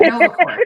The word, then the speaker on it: NovaCore: Core, Yeah. like hardcore, like I got core, yeah. not I got it. I care. said it wrong. Like we do care, but okay, got you. Good. NovaCore, got it.